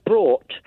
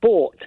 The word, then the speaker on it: brought: all of them is the word brought which everybody it has now decided to pronounce as bought and it's just a